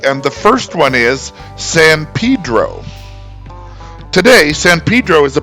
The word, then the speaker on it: San Pedro: Yes, I know it looks like it should be San Pedro, but the locals will tell you that it is San Pedro.